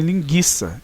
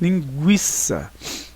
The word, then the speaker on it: linguiça: Para marcar a pronúncia do U, ou seja, dizer que este U deve ser pronunciado. Significava isso, ó, para as pessoas não então pronunciarem linguiça, e sim linguiça. Não pronunciarem consequente, e sim consequente.